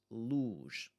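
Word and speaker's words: luz: Luge. Luge. Singular syllable. There's not much we need to think about there. It's going to be ooh.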